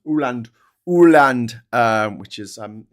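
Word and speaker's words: Åland: Also uh Danish or Aland um between Swin Sweden and um Finland. It's It's pronounced Oand, isn't it? Aland. It's Oland. Ooland.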